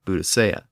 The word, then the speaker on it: Boudica: And I'm referring to the Celtic queen Boudica, or as she's sometimes called, Boudicca.